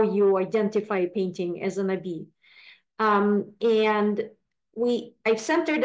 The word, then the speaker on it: Nabis: the Nai Ori um you don't pronounce the s in French so um the at